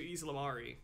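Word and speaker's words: ysalamiri: I always called them Eid-Salamiris because it sounded like salamanders. Eid-Salamanders. Yeah. You call it Eid-Salamanders. The guy in the electronic audiobook switches the pronunciation from Eid-Salamiri to Eid-Salamari back and forth.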